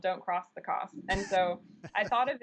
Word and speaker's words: Coss: jeremy peltz band and everywhere we went the promoters mispronounced my last name i said cross and he said you have to write a tune called don't cross the cost and so i thought